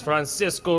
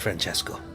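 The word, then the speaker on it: Francesco: This is Francisco. It's actually pronounced Franchesco.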